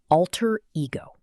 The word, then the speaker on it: alter ego: Her colleagues say it's her professional alter ego. Pronunciation. Alter ego. 2 separate words, 2 clear stresses. In connected speech, alter ego. Both syllables are kept clear.